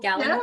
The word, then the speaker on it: gallinule: Is that how you pronounce it? Purple gallinule?